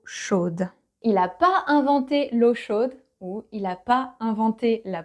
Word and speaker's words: chaude: But because water is feminine, chaude, with the E at the end. And because the D is not the very last letter anymore, you say D. You pronounce it.